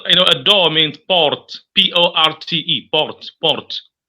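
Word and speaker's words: porte: know a door means Port p-o-r-t-e Port the E the last e that's not pronounced because in French naturally the last letters are never pronounced a window is what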